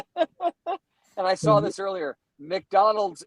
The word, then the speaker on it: McDonald's: McDonald's is two syllables. My granddaddy makes it three.